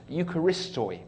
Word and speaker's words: Eucharist: is really interesting it uses a word that's pronounced Eucharist Eucharist and we get an English word from